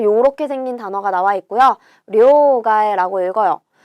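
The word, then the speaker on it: 両替: 그런데 요거 둘 양자는 료라고 읽고요. 얘는 원래 카에르라는 동사예요. 바꾸다, 교체하다인데 명사로 사용할 때 루를 빼주고요. 그리고 앞에 단어가 나오고 뒤에 단어에 타금 붙어서 료가에 요렇게 읽게 된다.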